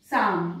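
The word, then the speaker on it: psalm: यदि पी के साथ एस आए टी आए एन आए और कहीं कहीं पर बी आए तो भी पी साइलेंट होता है। कैसे, साम देखिए यहां पर पी और एस आया, एल भी साइलेंट है।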